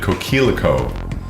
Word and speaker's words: coquelicot: The candle burns a vivid coquelicot.